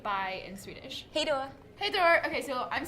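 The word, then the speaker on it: hej då: like how do you say bye in Swedish hey Dora hey Dora okay so I'm this is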